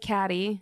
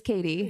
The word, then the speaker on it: Kattie: It looks like Caddy, but it is Katie.